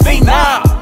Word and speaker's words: Phenom: And it's pronounced Phenom.